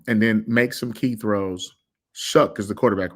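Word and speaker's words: Shough: Shuck is the quarterback, right? That's how you say his name? Mm-hmm. Shuck.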